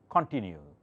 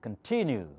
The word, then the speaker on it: continue: did I say continue I did not say continue or continue I said continue because T has the accent all right what symbol